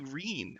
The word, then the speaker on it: Reem: goblins yeah really very Reem rhymes with scene all right my kindergarten